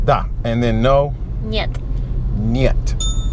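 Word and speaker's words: нет: and then no yep nyet okay so you I hear NY et something like that so yet yet yet just one short syllable yet alright it's pretty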